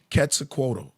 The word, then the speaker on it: Quetzalcoatl: Now a lot of them is let me say it right, Quetzalcoatl. Quetzalcoatl. Yeah, Quetzalcoatl, the feathered serpent.